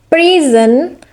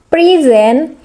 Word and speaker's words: present: The noun is present or a gift, and this is a stress on the first syllable. In verb is present is to give a speech, is stress on the second syllable.